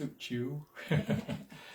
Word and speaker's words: Suchiu: And it is pronounced Suchiu.